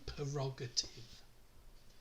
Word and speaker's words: prerogative: Prerogative. Exactly as it's spelled.